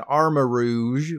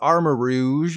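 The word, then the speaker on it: Armarouge: a lot cooler than our marouge but it is called armor Rouge like Moulin Rouge and then we have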